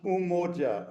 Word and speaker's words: Umoja: It is, Hannah, it's pronounced Umoja, Umoja.